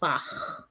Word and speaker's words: Fach: Well, actually, it's German, and we should actually pronounce it as Fach, right? Because the ACH sound is an ah sound in German. Um, but because we've made it English, so we call it Fach.